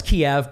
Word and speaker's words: Kyiv: going on with that i thought it was always kev it always was kiev but now they're saying well you know the ukrainian pronunciation is key the ukrainian spelling is